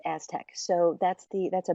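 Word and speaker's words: ASTC: science hyphen Technology Centers the acronym is ASC it's pronounced Aztec so that's the that's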